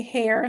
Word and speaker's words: Herr: What a fabulous Uh Herr is pronounced like you say Herr like mister in German.